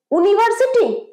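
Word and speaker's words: university: আছে এটাও ইউ দিয়ে এটাও ইউ দিয়ে কিন্তু প্রোনাউন্সিয়েশন ইয় হচ্ছে কনসোনেন্ট সাউন্ড আমাদের বাংলা স্বর্ব বর্ণে কোন ইয় বলে কোন স্বরবর্ণ আছে বা উচ্চারণ আছে নেই ইয় হচ্ছে পিওরলি কনসোনেন্ট সাউন্ড ব্যঞ্জন সাউন্ড তাই জন্য ইউ থাকা সত্ত্বেও প্রোনাউন্সিয়েশন কি ইউনিভার্সিটি নয় যদি ইউনিভার্সিটি হতো তাহলে এন হতো কারণ উ রস দীর্ঘ উ হচ্ছে কিন্তু ভাওয়েল সাউন্ড কিন্তু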